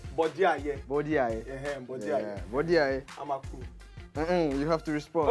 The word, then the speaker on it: Amakuru: Amakuru.